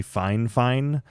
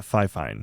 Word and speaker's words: FIFINE: Quick editor's note, it turns out the correct pronunciation according to them is actually Fine, not Fifine.